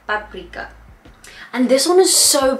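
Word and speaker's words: パプリカ: In Japanese it's called paprika, but you have to be really good with your intonation and you have to say every syllable, because otherwise they might not understand you.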